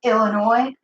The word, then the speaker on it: Illinois: Yes, my name is Illinois, and I need one airline ticket to, Illinois. No, the S is silent.